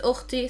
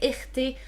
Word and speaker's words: أختي: I pronounce it أختي. Some people would say إختي. Some people would say خيتا. Some people would say خيتو.